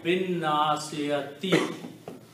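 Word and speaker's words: بالناصية: So the final pronunciation will be Binnasiyati.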